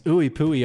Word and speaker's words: IUPUI: Justice uh formerly of ooie pooy before that at Knox County Central here in Kentucky I think he originally committed to Vanderbilt Bui is not pronounced ouie it's Ooey pooy all day if you've never pronounced